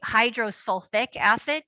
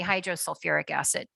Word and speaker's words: hydrosulfuric acid: But anyway, so technically hydrosulfic acid sounds fine, but it's technically hydrosulfuric acid.